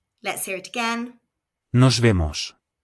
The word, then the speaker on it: Nos vemos: A popular alternative to goodbye is see you, which is Nos vemos. Let's hear it again. Nos vemos. Remember the letter V is pronounced like a B, so this is nos vimos.